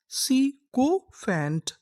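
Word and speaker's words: sycophant: सीकोफेंट सिकोफेंट सिकोफेंट सिकोफेंट का मतलब होता है चापलूस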